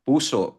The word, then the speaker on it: puso: O puso pero puso ang basa doun ha. Hindi puso sa tagalog puso. Walang walang stop sa o.